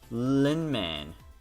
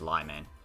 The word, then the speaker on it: Lyman: I'm saying Linman. That's not how you say his name. His name is Lyman.